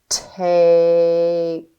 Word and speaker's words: tape: to sound it out remember that the E is silent and that a says his name let's sound it out tap let's sound it out again tape good let's say it